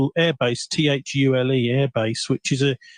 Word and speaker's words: Thule: It's actually pronounced Thule.